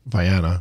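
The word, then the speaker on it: Viannia: Are you going to pronounce the V for me so I don't do that wrong? Viana. Viana brasiliensis.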